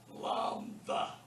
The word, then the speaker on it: Lambda: Now, it's spelled, and I'll transliterate Lambda, but you don't pronounce that D. It's THA. Lambda.